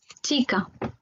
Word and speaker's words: chica: Alors, vous avez le ch qui se prononce comme s'il y avait un T devant, qui se prononce ch. On va écouter Natalia. Chica. Voilà, ch, chica.